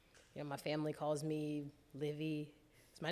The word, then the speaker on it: LIVt: So the T is silent in my name, so it's Liv.